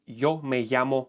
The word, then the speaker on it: yo: 1% then you should go with a traditional pronunciation that is the sound of you like in the word yesterday don't try to be cool you're not when you're going to introduce yourself you will say Yoo Marco Situation Number Two if